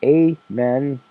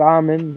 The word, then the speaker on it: Amen: or whatever it's there doctor a men not almond I did mispronounce it I've mispronounced lots of things but it is indeed Amen I say Amen at